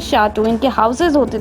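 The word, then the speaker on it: château: इसका प्रोनाउंसिएशन है शाटू या शाउटिक्स।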